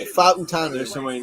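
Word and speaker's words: Fautanu: Fa'utanu. That's how you say it. Fa'utanu.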